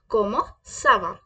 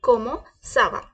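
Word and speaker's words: comment ça va: को ना लाए अपने दिमाग में जैसे मैंने प्रोनाउंस किया वैसे करें क्या बोलेंगे हम कोमो सावा क्या बोलेंगे कोमो सावा अब हमें हम देखेंगे कि हम अपने से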